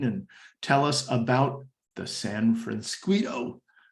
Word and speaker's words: San Francisquito: tell us about the San Francisco rhymes with Mosquito Creek Authority yes all